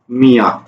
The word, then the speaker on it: মিয়া: এই মিয়া শব্দটাকে আমরা কিভাবে উচ্চারণ করছি? ময়ের শিকারে মি, সরিয়া, মিয়া।